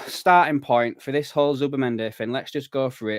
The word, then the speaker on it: Zubimendi: talking about the whole Zubimendi stuff right now, or Zubimendi. I know you're supposed to pronounce it as a TH.